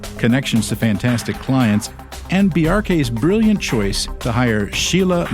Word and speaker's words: Bjarke: I normally explain it like there's a reference to Bork because it's a similar BJ. Yeah. But the symbol hack, just like you would say FBI or CIA, you pronounce every letter in the acronym. Say the acronym BRK quickly.